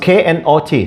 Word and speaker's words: knot: r t e just k n o t not the k is silent okay not knot